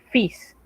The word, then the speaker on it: fils: Fis es una pequeña excepción. En realidad no es posible explicar por qué se pronuncia diferente a lo que las reglas dicen. Aquí, en vez de omitir la S, omitimos la L, fils.